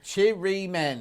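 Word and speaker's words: chirimen: Oh, Chiri Men is how you say it.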